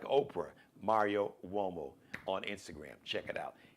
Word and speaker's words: Uomo: Mario Uomo now, Uomo is spelled with a U. It's got the W sound. It's an Italian surname.